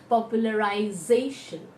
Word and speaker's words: popularization: at the back and whenever we have a tion ending in the back we count from the right hand side the second syllable from the right will be done more strongly and hence it is popularization popularization so now we are